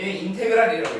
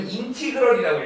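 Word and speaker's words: integral: 그래서 자 봐봐 기호로는 얘 인테그랄이라고 읽어 원래 인티그럴이라고 읽어야 돼 근데 리 보통 인테그 이렇게 읽는다고인 그다음에 FX 그다음 DX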